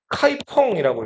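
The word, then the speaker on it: 開封: 이 개봉은 한자로 쓰면 카이펑이라고 읽어요. 자, 위나라가 안읍에서 수도를 대량으로 옮겼다 그랬죠.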